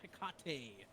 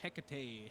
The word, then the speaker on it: Hecate: let's start off with the ring of hecate or hecate however however you want to pronounce it you're going to lurk